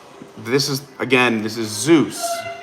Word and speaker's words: Zeus: so let's just say everybody watching to the 100 or so people like you wanted to give Zeus a cast compliment.